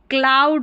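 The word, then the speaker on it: cloud: ओ you vowel pair है, इसको आउ पढ़ा तो क्लाउड हो गया।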